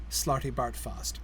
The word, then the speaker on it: Slartibartfast: funny but I think it's funnier if all three of the A's have the same sound which is how it sounds when somebody English reads it Slartibartfast I so did that